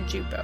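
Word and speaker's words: Juppo: oh no jupo who i always pronounced japo but it's actually jupo i learned that i was like no it turns out it is jupo so yeah oh we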